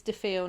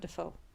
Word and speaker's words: DeFeo: And it's DeFeo, not Defoe. DeFeo. DeFeo, because they're Italian.